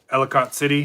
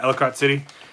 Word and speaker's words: Ellicott City: So the water was coming down Main Street of Ellicott City. Am I pronouncing that right? Yeah, Ellicott City, and they could see it rising, and it was getting close to where cars were parked.